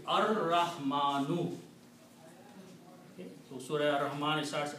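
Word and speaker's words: الرحمن: But because Ra is a Shamsi letter, it kills the sound of Lam. So the pronunciation will be Ar-Rahmanu.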